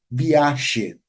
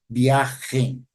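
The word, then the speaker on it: viaxe: Os galegos não vão pronunciar o G dessa forma, eles vão pronunciar como se fosse realmente um som de um X. Então, eles vão pronunciar biache.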